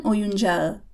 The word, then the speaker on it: oyuncağı: Onların oyuncağı. Oyuncak means toy. It ends in a K, so it becomes a soft G.